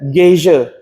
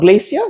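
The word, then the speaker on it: geyser: coming up from from the ground what's that gazia not glacia gazia not not gisha gay I'm not sure how to spell it Gia glacia not glacia gazia gazia so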